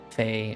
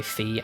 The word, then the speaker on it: Fe: the Tunic OST, the Fae OST. Fae as in F-E. I don't know how people pronounce that game. I keep saying Fae, but it's probably Fee.